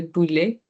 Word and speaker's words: poulet: Okay, and then we have chicken, le poulet. It's like poo and then lay. Poo or and then lay. The T is silent.